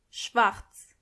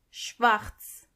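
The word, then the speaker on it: Schwarz: English pink black means Schwartz Schwartz and make sure you are pronouncing the r correctly exactly white means vice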